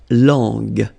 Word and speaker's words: langue: Okay, so you get to put this U between the two to get the sound G. So you get la langue.